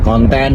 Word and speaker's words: konten: k u dan n kemudian konten huruf k o n t e dan n Jadi bukan konten seperti dalam bahasa Inggris nah ini Tentunya memperkaya